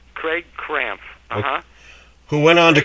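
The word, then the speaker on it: Craig Krampf: Craig Camp or something like that. It's pronounced Craig Cramp.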